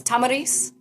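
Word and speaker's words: Tomyris: to say her name it's is it tarce Tomar Tomar Tomar yes I think I heard I think I heard a middle easterner pronounce it and so I went with that so it's Tamaris Tamar yeah okay that's correct I learned all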